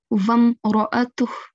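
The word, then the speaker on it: مرأته: Okay, so here the alif is a blank alif. Okay, so we are not going to pronounce it. We have to join the waw straight into meem sakin.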